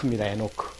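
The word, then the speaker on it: Enoch: 사람이 등장하는데 에녹의 이제 히브리식 히브리식 발음은 에입 에노크 에노크라는 에노크 근데이 에노크라는 뜻 자체가 이름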